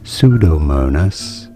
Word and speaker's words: Pseudomonas: Pseudomonas, yes, the P is silent, aeruginosa, or Staphylococcus aureus.